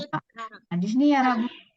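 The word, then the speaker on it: 숟가락: Jadi ketika nanti ada huruf diget ketemu sama giok, jadi nantinya bacanya seperti apa? Bacanya seperti huruf T dengan K. Jadi bacanya bukan Sudgarak ya, bukan pakai D seperti ini, bukan Sudgarak, bukan.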